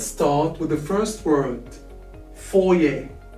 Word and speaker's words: foyer: Let's start with the first word, foyer. Foyer. That's how we spell it.